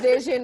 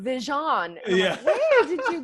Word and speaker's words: Vishion: At least you pronounce vision right. There's a lot of guys. It's usually older white guys who are like, oh, vision. Like, where'd you get the French from?